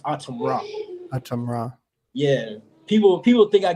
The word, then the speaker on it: Atumra: from that and um AUM Raw it's it's pronounced aam Raam ra yeah people people think I got it from